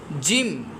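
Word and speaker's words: ج: যেমন সা জিম জিমটা হবে একটু শক্ত। সিদ্দতের হরফ শক্ত। জিম।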